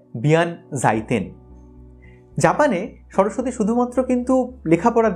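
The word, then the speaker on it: 弁財天: তার নাম বিয়ান সাইতিয়ান আবার জাপানে এই উচ্চারণটা একটু বদলে হয় বিয়ান জাইতেন জাপানে সরস্বতী শুধুমাত্র কিন্তু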